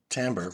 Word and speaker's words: timbre: the difference in tone is called of Tambor which is spelled timbre and that's what lets